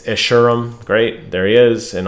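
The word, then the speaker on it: Escharum: do what's best um how do you pronounce essurem there it is i think i said it wrong last time i think i said s charum it's ishirum great there he is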